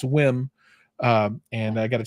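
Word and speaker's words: WiiM: with we or whim I've been saying it wrong it's not we it's whim um and I got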